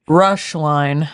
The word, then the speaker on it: Roeschlein: Rush line. No rush line. Take your time. That is not how I would have phonetically sounded that out.